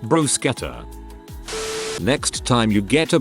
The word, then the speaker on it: bruschetta: a brew scatter topping make sure you pronounce it with a hard ch2 brew scatter next time you get